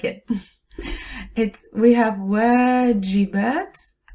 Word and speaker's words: واجبات: We have واجبات. The moment you don't pronounce the alif, you end up saying meals. One long vowel can change homework to a meal.